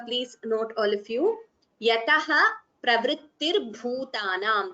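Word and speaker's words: यतः प्रवृत्तिर्भूतानाम्: Yataha pravrittirbhutanam. Visarga followed by pa. It is upadhvaniya, so you get the pronunciation as yatah pravrittirbhutanam. You don't chant the visarga completely, but we chant it as yatah pravrittirbhutanam.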